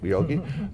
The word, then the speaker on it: Yogi: Did I pronounce that correctly? Yes, Yogi.